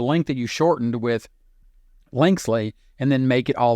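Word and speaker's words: Linksly: look at linkel so lynel is spelled l i n KS l y linkle really I guess is how you pronounce it what you need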